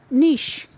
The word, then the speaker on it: niche: For example, the word cliché, C-L-I-C-H-E, pronounced as cliché, which means very commonplace or trite. Then there's another word, niche, which means a slot or a place, or